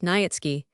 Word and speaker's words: Nietzsche: The family tradition was that a certain Polish nobleman Nietzsche, pronounced Nietzsche, had obtained the special